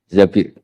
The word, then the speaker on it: Zabir: di hadis ini bukan bacanya bukan Zubair tapi Zabir Abdurrahman bin Zabir.